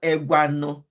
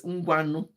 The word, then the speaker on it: Ngwano: But that's how you spell it, not Egwano. It's Ngwano.